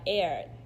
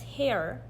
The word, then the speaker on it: heir: You might pronounce it as hair because there's an H, but that H is silent.